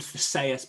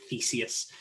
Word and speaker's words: Theseus: like uh the the i never know how to pronounce it i had a friend called sayus but most philosophers pronounce it theseus and so like the